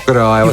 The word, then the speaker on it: Goroawase: but I learned about, and I might be pronouncing this one wrong, Goroawase, Japanese wordplay. Yeah, that's Did I do that right? Goroawase? Yeah, right. Goroawase. You're right.